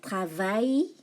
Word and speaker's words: travaille: Oui, je travaille. No L, eh? The L is silent.